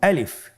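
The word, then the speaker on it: ألف: আমাদেরকে বলতে হবে বলুন আলিফ আলিফে কিন্তু কোন টান নেই আপনারা বুঝতে পারতেছেন আমি যখন আলিফ বলছি এর মধ্যে কোন টান হবে না।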